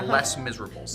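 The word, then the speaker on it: Les Misérables: less of the miserables i believe it is is the english pronunciation less miserables yes less miserables less miserable today 12th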